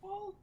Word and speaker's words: Westfall: So this totally is Weastfall, huh? It's pronounced Interesting. Westfall.